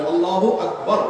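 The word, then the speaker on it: الله أكبر: আল্লাহু আকবার উচ্চারণ করার সময় একবারের রাকে টেনে কোনো ঠিক হবে কিনা, না ঠিক হবে কেন, তাজবীদের সাথে বলতে হবে আল্লাহু আকবার আল্লাহু আকবার, এরকম বলা যাবে না।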